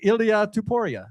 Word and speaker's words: Ilia Topuria: Yeah, that guy, Ilia Topuria.